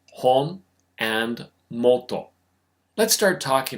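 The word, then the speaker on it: 本: That would be because the katakana ho is actually derived from this character, which is pronounced hon.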